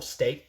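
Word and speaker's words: Staite: But it's pronounced like State. You just don't pronounce the I. It's silent.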